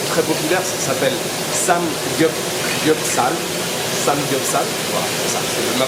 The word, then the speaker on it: Samgyeopsal: Samgyeopsal, voilà, c'est ça, c'est ma prononciation à peu près correcte.